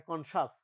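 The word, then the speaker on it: conscious: কনশিয়াস বল না এটা কনশাস উচ্চারণ সি আইও ইউএস থাকলে এটা সাস হবে উচ্চারণ এটেনশনের এখানে মিনিংটা খুব খুব রেলিভেন্ট বা কাছাকাছি হচ্ছে কনশাসনেস।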